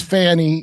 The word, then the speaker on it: Fani: Is that how you say her name, Fani? Am I saying that wrong? No, that's it. Okay. Her name is Fanny. All She right. spells it like an idiot.